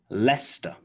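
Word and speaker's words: Leicester: are some more examples so gloucester gloucester also lester lester you may know that place name for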